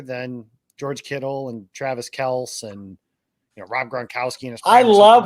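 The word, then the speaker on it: Kelce: a lot of people have not seen travis kelsey uh put out that his name is actually pronounced travis kels and like pragma holmes was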